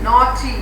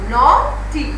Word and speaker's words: naughty: So it will be naughty. Now naughty, GH is silent here.